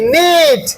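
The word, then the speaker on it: knit: জোরে পড়ো K N I T নিট।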